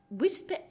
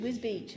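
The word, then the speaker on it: Wisbech: connections she was born wisp is that how you say it whis Beach okay the museum to her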